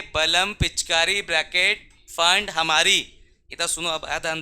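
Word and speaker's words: Pfund: फंड, P silent है, फंड series.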